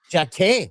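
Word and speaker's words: Jacquet: I know with this jacket guy kid is it jackets? Uh, what is it? Silent T. Jac with a silent.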